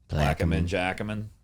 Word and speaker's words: Jacomine: So basically, I always tell people, like, well, it only works in New Orleans if you can pronounce Plaquemine, Jacomine. There you go. Jacomine.